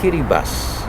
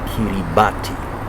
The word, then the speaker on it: Kiribati: country many perhaps wouldn't even know it's called kitty bus in kiswahili you would call it kiribati but it's actually pronounced as kitty bus your excellency welcome to WT me thank you